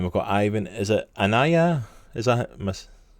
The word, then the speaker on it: Anaya: Is it Anaya? Is that Miss? Anaya, that's the right pronunciation.